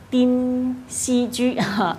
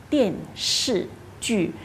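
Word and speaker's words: 电视剧: 个电视剧呢读成了丁西居，那其实正确呢就是电视剧，香港人都喜欢看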